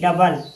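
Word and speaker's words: double: डी ओ यू बी एल इ डबल। यहां ओ के बाद यू है इसलिए ओ साइलेंट है।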